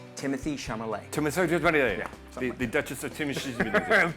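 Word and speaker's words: Timothée Chalamet: It's pronounced Timothy Chalamet. The Duchess of Timothy Chalamet. Timothy Chalamet.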